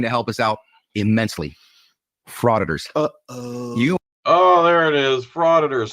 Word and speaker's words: frauditor: I don't know if he created it or just made it viral, but he created the term frauditor, and it's so crafty because it rhymes with auditor.